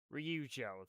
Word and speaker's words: Ryujo: I can't I can't pronounce the light carriers properly. Ryujo.